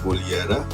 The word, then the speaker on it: Kodihara: The village is Kolihara, written Kodihara but pronounced Kolihara, and the colony was Karhara because of the wailing.